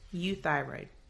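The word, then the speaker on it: euthyroid: I want to introduce a new term it's U thyroid that's spelled e u t h y r o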